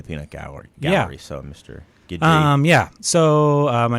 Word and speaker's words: Guidry: It's Guidry. Guidry. The last name is Guidry. Guidry.